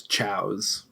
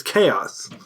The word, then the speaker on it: Chaos: Sonic Adventure 1 as Chows. And Chows. it drove me insane. Well, there is it's chaos, but it's spelled like Chows, it's right?